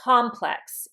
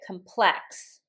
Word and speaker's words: complex: If I pronounce it instead of complex, if I pronounce it complex, then it's a verb and it means to complicate, complex, or intensify.